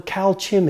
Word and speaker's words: Calxim: And so you go into this little village where Calchim is, and it's spelled Calxim.